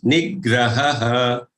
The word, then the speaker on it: निग्रहः: So don't just end up saying maunamatma vinigraha. It is nigraha, maunamatma vinigraha.